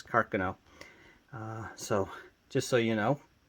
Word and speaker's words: Carcano: millimeter or the 6'5 carcino and if I interchange carcino and Carcano excuse me the proper pronunciation is carcono so just so you